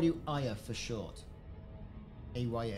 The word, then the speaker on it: Aya: A-Y-A, that's how I pronounce it.